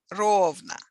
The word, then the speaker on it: ровно: Часа ровно has a stress mark over the first syllable, over the first O, ровно.